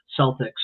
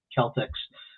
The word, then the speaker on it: Celtics: They you know, they call the basketball team the Boston Celtics but it's actually should be Celtics. Uh so a lot of people aren't familiar with the hard C there but uh but I